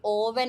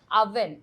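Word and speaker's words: oven: ആണ് അതിന എന്താ പറയാ ഇത് ആക്ച്വലി ഓവൻ അല്ല നമ്മുടെ ഓണിയൻ പോലെ തന്നെ ഉള്ള ഒരു പ്രൊനൻസിയേഷൻ ആണ് ദിസ് ഈസ് അവൻ എന്താ പറയാ അവൻ ആണ് ഓവൻ അല്ല എവിടെയാ ഫുഡ് ചൂട മീൻ എവിടെയാ ഫൂഡ് ചൂടാക്കാൻ പറ്റ എന്ന് ചോദിക്കുമ്പോൾ ഓവൻ എന്ന് പറയരുത് അവൻ ഓക്കേ അടുത്ത വേർഡ് നമുക്ക്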